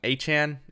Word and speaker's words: Achane: So the first and most obvious player is Achane, and he did say wants his name pronounced like that.